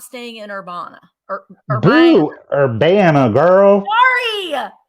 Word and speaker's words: Urbana: is not staying in Urbana. Urbana, girl. Sorry, Urbana. Everyone tells me I need to say it like I have a Southern accent. So that's what I try to think of.